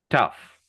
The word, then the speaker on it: tough: Okay, the second one has actually it's a UHF sound. So this word sounds like this. Tough.